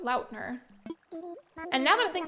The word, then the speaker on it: Lautner: Apparently it's pronounced Lautner, not Lautner, but Lautner.